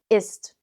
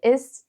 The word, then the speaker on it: ist: With ist, it's even easier to remember because in fast-spoken German, it's pronounced like the English is, so without the T. Not too difficult, right? Zum Beispiel, wie ist das Wetter?